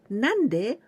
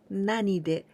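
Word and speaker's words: 何で: With this kanji, we can pronounce both ways, nande or nanide, and there are different meanings.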